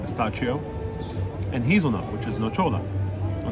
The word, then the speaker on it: nocciola: know why they don't like combining pistachio, I'm pronouncing it the Italian way, but pistachio, and hazelnut, which is nocciola, or nocola, wait, nocciola, right?